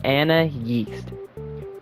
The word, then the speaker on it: Anais: When you look at Anais's name, it's spelled A-N-A-I-S. This one makes her called Anna Yeast.